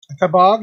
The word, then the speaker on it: Kabag: Okay, well, this week we unboxed, I believe I heard you pronounce it as Kabag. Kabag, yeah.